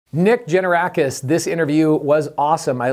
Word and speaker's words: Tzenevrakis: If you read this, the spelling of this thing, it's Tzenevrakis. It's Tzenevrakis.